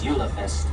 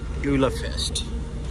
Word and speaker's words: Julefest: and events, such as Yulefest, which is going on right now. Actually, I think the official pronunciation is Julefest. Julefest.